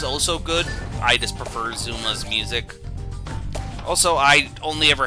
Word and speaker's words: Zuma: Zuma. It rhymes with skooma.